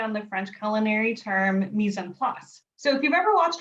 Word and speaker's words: mise en place: In my case, I did a play on that word, partly because I learned how to pronounce mise en place by saying peas en masse.